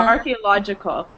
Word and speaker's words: archaeological: Archaeological. Archaeological, yeah. It almost okay. sounds like a key.